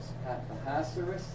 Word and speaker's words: Ahasuerus: How do you pronounce it? Ahasuerus.